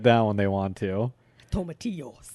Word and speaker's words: tomatillo: Tomatillos. It's tomatillo. He always has to overpronounce things.